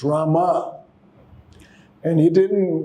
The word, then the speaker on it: Rama: So when the Maharaj was singing, immediately when he said, Ramo, Prabhupada stopped him. He said, you don't chant. The mantra is not Brahmā, it's Rama.